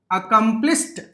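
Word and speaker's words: accomplished: Word చూద్దాం అకంప్లిష్ అకంప్లిష్ అకంప్లిస్ట్ అకంప్లిస్ట్ సరిగ్గా గమనించాలి అకంప్లిష్ ఎండింగ్ సౌండ్ చూడండి ఇక్కడ ఎలా ఉందండి ష అలాంటి శబ్దం వచ్చినప్పుడు తర్వాత రాసే డి ని ఇలా చెప్పాలి. ఇలా పలకాలం ట ట ఎలాగ సిఆర్ యుఎస్ హచ్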